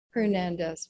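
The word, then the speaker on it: Hernández: Hernandez, but in Spanish you don't pronounce the H.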